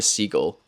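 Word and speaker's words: Siegel: 3 months later, in April of 1994, two lawyers from Phoenix, Arizona, Lawrence Caner and Martha Seagull, I always say Seagull, but it's Seagal.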